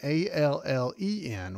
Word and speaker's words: Allen: It's spelled, of course, like Griffith, and Allen, A-L-L-E-N. Well, that's not how I spell my name. People spell it wrong all the time, but it's Allen as in Steve Allen.